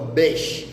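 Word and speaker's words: beş: Namba tano utamkwa besh.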